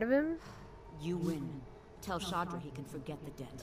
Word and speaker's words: Shadr: Tell Shadra he can forget the debt. Oh, that's how you pronounce it. I thought it was Shader. Shader. Nice. Sounds like fodder.